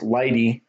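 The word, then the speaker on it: lighttpd: see here there's light HTTP D which is pronounced light E which is a very very lightweight flexible extensible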